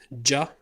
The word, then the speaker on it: ج: It sounds ja, like a letter J. In some accents, it's pronounced ga.